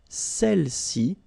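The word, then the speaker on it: celles: and then all right feminine plural Cel okay don't pronounce the final s Cel s all right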